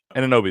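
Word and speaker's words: Anunoby: let me see which one is it anobi anobi that's it yep yep OG anobi sinks a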